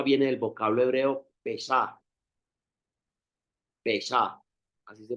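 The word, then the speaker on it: פסח: Pesá, así se pronuncia, Pesá, que significa literalmente pasar por alto.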